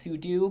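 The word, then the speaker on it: sudo: be very clear that I intentionally pronounce it super user doe the instead of super user do even though I think technically it's pronounced su do but I'm a pseudo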